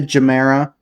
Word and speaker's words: Gemera: I'm going to be calling it the Gemera, just because that's how it's spelled, and I'm American, so I'm legally obligated to butcher foreign words.